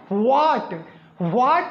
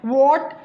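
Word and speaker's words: what: हैं सही सोचा आपने हम लोग उसको पड़ते हैं व्हाट व्हाट न होकर इसका जो एग्जैक्ट प्रनंसीएशन होता है यही जो सही उच्चारण होता है यह होता है वोट या ऐसे ही अगर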